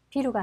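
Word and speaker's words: ビール: 그래서 맥주는 비루가 아니라 비루. 비루. 여기서 여러분들 주의하실 점, 만약에 여기서 비루라고 발음하시면 어떻게 돼요? 그렇죠. 빌딩, 건물이 되고 맙니다.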